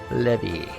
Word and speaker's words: Levi: give it up for Levi I mean Japanese pronunciation levy that's all the time